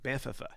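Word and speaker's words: Banff: have to visit it's it's called bantha there's two F's say it with me bantha right and actually i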